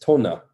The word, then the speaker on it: Tone: and i guess you a popular name in norway is tona right tona it's spelled yeah and me and canadian i would be calling up hi is tone there i completely picture their